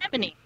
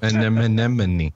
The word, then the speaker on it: anemone: Anemone. I watched Finding Nemo. I know how to say it. Yeah. Anemone. Yeah, see an enemy.